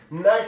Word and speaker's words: night: نایټ کې د جي ایچ نه تلفظ کېږي مرګلو، ولې ځکه چې د آی نه شاته راغلی.